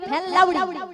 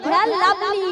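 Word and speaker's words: Fair & Lovely: ফেল লাউডি। হ্যাঁ ক্রিমটাও ঠিক করে উচ্চারণ করতে পারে না। আরে লাউডি নয়, ওরা ফেল লাভলি।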